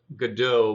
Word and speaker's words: Godot: I think it's pronounced Godot, but I am going to pronounce it as Godot because our game has dots in it, and you go.